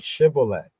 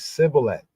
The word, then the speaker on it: shibboleth: forced people to say the Shemitic word shibboleth, which the Ephraimites pronounce as Sibboleth, giving them away.